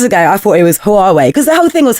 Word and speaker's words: Huawei: the woman comes over and she says it's Huawei and I was like oh oh God okay